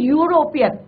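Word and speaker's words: European: ई से, बट इसका प्रोनाउंसिएशन क्या होता है? यूरोपियन। क्या होता है प्रोनाउंसिएशन? यूरोपियन, right? तो यहाँ पे जो है वो लॉन्ग साउंड यू करता है, चाहे आप यहाँ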